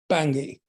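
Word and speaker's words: Bangui: think the capital is pengui bengui oh yeah I think it's pronounced bangi this is the way they pronounce it yes anyway so I've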